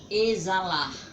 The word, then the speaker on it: exalar: certa a primeira palavra aqui é exalar a exalar que o X tem som de z e Vamos separar